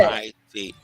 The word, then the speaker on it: Saoit: Saoit. Saoit, like the O like a W.